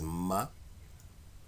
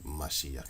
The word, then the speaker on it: Mashiach: It clearly says Mashayach. So it says this. Mashayach. So how do you say it? You say an Mashayach. That's what it says. Mashayach. You could say Mashayaha if you want to, but that's not it. With the Hebrew, you most of the time the last words, the last vowels, you cut them off.